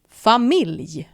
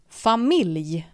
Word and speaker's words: familj: Same word, almost the same pronunciation. Problem. Problem. Next we have the word for family. Family. Familj. Family. Familj.